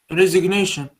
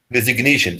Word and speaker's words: resignation: noun of resign resi resignation resignation so we pronounce the g it's like ignore ignorance resign resignation to resign